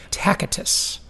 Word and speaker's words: Tacitus: 2,000 years ago, a Roman gave this quote, and I think you pronounce the name Tacitus, okay, who said, the more corrupt the state, the more numerous the laws.